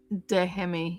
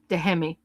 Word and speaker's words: Dehemi: Dehemi. Yeah. So you pronounce it. So you pronounce the H. Okay, cool. Awesome. Dehemi.